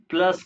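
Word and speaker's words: plus: मैंने आपको वैसे प्लस को यानी कि इंग्लिश में स्पेलिंग सेम ही है। प्लस है। लेकिन यू को ओ कहते हैं। इसके हिसाब से प्लुस हो गया।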